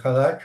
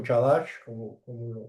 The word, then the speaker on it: Chadash: Hay apéndices o complementos como el Hadash o Chadash, dependiendo de cómo lo lean. Se escribe Chadash si tú lo pronuncias en el lenguaje anglo, o Hadash si lo pronunciamos en español.